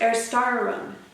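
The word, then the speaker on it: Erstarrung: 24 songs it is in german pronounced er star room and i'm going to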